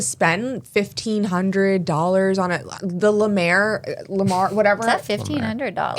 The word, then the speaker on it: La Mer: The Lamar, whatever. Is that $1,500? It's like $900. It's really, the La Mer, like the LA, I'm probably even pronouncing it wrong. Like That's how MER? Yeah. La Mer.